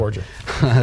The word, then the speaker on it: Borger: Am I pronouncing that correctly? Borger, yeah, good. Right. Thank you. Borger.